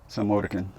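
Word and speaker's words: Psalmodikon: It's like, she asked if I could spell Slomodican, and it starts out with the word Psalm, like the book of Psalm, and then Odikon, Slomodican.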